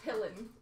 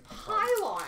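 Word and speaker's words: Pilon: Jeff thinks it's pillin. I'm like, it's pylon.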